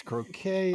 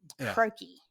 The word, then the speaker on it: croquet: always thought it was a game you play out in the yard, Croquettes, croquet. I heard people pronounce croquet, croaky.